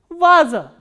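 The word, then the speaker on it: ваза: The next word is va, a, za, a, and stress is on a, the first a. So, how will we pronounce this word? Vaza.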